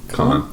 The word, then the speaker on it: Cannes: Cannes, yeah.